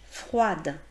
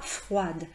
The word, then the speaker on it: froid: Donc souvent au masculin, on ne prononce pas la dernière lettre lorsqu'il s'agit d'une consonne et parce qu'on va rajouter un E ensuite au féminin et que ça va nous permettre par conséquent de dissocier le masculin du féminin.